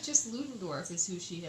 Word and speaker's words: Ludendorff: Ludendorff.